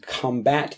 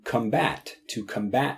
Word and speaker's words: combat: There are two pronunciations of this word. Combat is like the noun form of it where you're talking about battling things. And the verb form is to combat something.